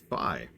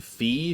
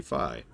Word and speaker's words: Fi: ago something like that apparently it is supposed to be pronounced fi I've been saying fee for like a decade or however long it's been since that game came out but no it is it is apparently supposed to be fi I've been trying to